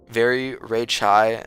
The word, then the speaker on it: Very Ray Chai: Very Ray Chai says very Ray Chai is how you pronounce it.